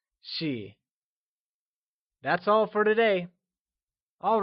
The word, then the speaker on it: 系: And lastly, let's take a look at she. She is pronounced in the neutral tone. Let's say it one more time. It's she.